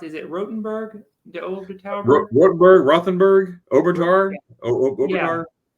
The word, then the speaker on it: Rothenburg: Yeah, we recommend in how do you pronounce it? Is it Rothenburg?